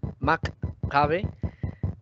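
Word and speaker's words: McCabe: Shriver, que es otro, el que acuñó prácticamente el nombre, se escribe S-H-R-I-B-E-N-G, Shriver. Maccabe habla un poco, Maccabe es M-C-C-C, Maccabe.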